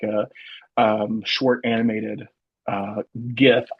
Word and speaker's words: GIF: um short animated uh GIF I pronounce it with a G not a j i don't I say GIF I say GI it's